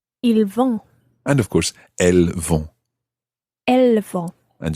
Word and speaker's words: elles: And of course, elles vont. Elles vont. And just to remind you that il and elle there have a silent S on the end. I-L-S for il, E-L-L-E-S for elle.